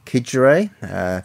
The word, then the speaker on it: Xigera: It's called Kigere. It's Xigera, so we pronounce the K.